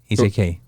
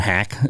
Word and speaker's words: Hak: It's pronounced more like a Hak, but you kind of got tired of trying to train Westerners to say the word Hak. They would hack, and they would, so